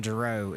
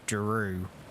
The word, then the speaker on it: Giroux: myself when i do it's giroux right i was saying jerome it's drew i did still mess